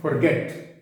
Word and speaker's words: forget: Words अंग्रेजी में है, FORGET, FORGIVE। हम कैसे बोलते हैं? forget, forgive, इनका प्रोनाउंसिएशन गलत है। कैसे बोला जाना चाहिए? forget it। मैं आर भी नहीं बोल रहा, ओ को ओ बोल रहा हूं।